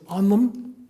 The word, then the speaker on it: anam: Gaelic is anam, and the word for soul in Gaelic is onum. They're almost identical. One is spelled A-I-N-M, anam is my name. Onum, A-N-A-M, is my soul.